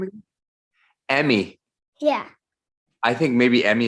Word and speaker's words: Emmy: Emmy. How do you say your name again? Emmy.